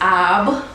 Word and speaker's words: Ab: In Kemetic terms, it is known as Ab or Ob, which is spelled A-B or O-B.